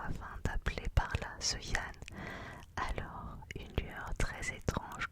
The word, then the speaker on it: Jean: Cependant, Sylvestre s'ennuyait à cause d'un autre appelé Jean, un nom que les Bretons prononcent Yann, qui ne venait pas.